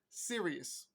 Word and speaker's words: Sirius: from the star Sirius that's s-i-r-i-u-s just like the radio or satellite station from XM serious according to one of their